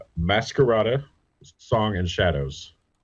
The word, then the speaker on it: Masquerada: You mean So Masquerade, Song and Shadows? nope, Masquerada. Masquerada? Yes, Spell that for our audience. it's Masquerade with an A instead of an E at the end. Masquerada.